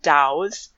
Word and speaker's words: Tao: So you have they're called Daos, which is spelled with a T because Chinese.